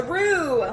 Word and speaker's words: roux: So, a roux. Let's talk about roux. A roux is spelled R-O-U-X.